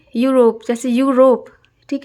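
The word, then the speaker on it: Europe: Start होता है यूरोप, लेकिन उच्चारण कहाँ होता है, य से हो रहा है यूरोप, तो एन नहीं लगेगा, ठीक है।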